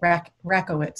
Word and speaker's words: Rakowitz: friend of mine sandy rockowitz is that how you say it sandy rocco wits i want to make sure uh like the tennis racket rackowitz rackowitz thank you thank you